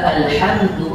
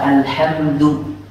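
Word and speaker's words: الحمد: Wa hamza alhamdu a'udzu ihdina Allahu thumma lama lillahi lana. Tolong tipiskan hamzah pada kata alhamdu. Jangan membaca all, bukan alhamdu, tapi alhamdu.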